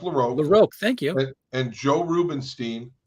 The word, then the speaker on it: LaRocque: LaRock and Joe Rubinstein Greg larocque Greg laroque it's pronounced laroque thank you and Joe